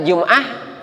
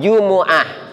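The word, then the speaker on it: جمعة: Jumuah Jumuah kita mah udah kebiasaan lidah kita jumah ya jumah kita mimnya disukunin ya jumah udah biasa begitu kita m ya di Alquran Jumuah ya ayyuhina amanuilum mati mimnya didamahkan itu jumhur ulama membacanya itu Jumuah nah nah yang kedua jumah Nah itu kita kadang juga menut jumah kalau jumah itu lghat Bani Tamim kalau mimnya disukunkan jumah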